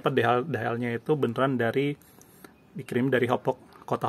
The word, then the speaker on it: Hauppauge: Jadi pastiin kalau semuanya DHL-nya itu beneran dikirim dari Hopok, kota Hopok, Hauppauge. Di sini ada ya. Di sini ada. Ini bagian ininya ada. Tulisannya Hauppauge, dibacanya Hopok, New York 11788 USA.